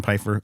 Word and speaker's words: Piefer: That's p i e like apple pie. F e r like southern fur. Pyer.